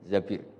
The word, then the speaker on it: Zabir: Di hadis ini bacanya bukan Zubair tapi Zabir.